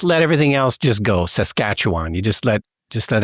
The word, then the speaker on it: Saskatchewan: but for future reference it's emphasis on the second syllable and you just let everything else just go Saskatchewan you just let just